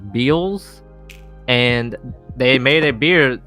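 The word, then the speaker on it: Beale's: brewery in Virginia called I think it's pronounced Beals and they made a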